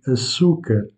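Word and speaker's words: açúcar: la demande sachez que le mot sucre se dit à souk vous accentuez la deuxième syllabe souk dans ce cas quant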